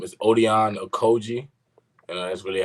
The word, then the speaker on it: Odion: All right, my first and last name is Odion Okoji.